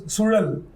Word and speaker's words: Suzhal: And actually, Brahma was trying to teach people how to pronounce Sudal. So he was trying to, roll the tongue. Sudal is very, very unique, and not every language has got it, no?